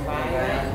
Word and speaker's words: Maria: It's spelled Maria, but they call her Mariah.